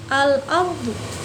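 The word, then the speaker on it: الأرض: Al-ardu, la-nya kebaca ya kan, al-ardu kebaca karena di situ ada sukun, la sukun kan jadi dibacanya L ya.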